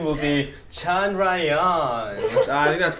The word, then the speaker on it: Chandrayaan: So the official pronunciation will be Chandrayaan.